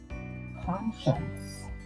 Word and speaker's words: conscience: 2, conscience. C-O-N, that's a prefix. And then this word is spelled, it looks like con and then science.